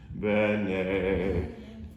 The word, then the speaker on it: bene: Right now you're putting the inflection on the final syllable. Bene. This word doesn't exist in Italian. Bene exists.